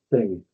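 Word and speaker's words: þing: Norse Anglo-Saxons have it too thorn which is pronounced th so thing and the same element appears in our thing.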